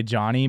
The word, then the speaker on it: Jawny: This is Honey Pie by Johnny, but it's spelled Jawny.